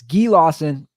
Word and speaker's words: Guy Lawson: Guy Lawson. I pronounced it incorrectly. He's Canadian. I pronounced it incorrectly last episode, but it's Guy Lawson.